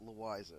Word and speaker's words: Louisa: Actually, she pronounced it Louisa, but you couldn't know.